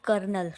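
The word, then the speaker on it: colonel: जाएगी उसके अलावा है कर्नल कर्नल की स्पेलिंग कौन सी सही है तो कर्नल जो वर्ड है बेसिकली वह आर इसमें लगा लगाते हैं बट इंग्लिश में हम उसको कोलोनल स्पेलिंग ऐसे लिखेंगे ठीक है फिर हमारे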